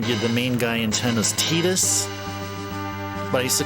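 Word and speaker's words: Tidus: as Waka and the main guy int is tetus but I used to call him Titus because TI D us it it just my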